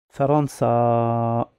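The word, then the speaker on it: فرنسا: Ils ont une même façon de se prononcer. Allez, le mot suivant. Faransa.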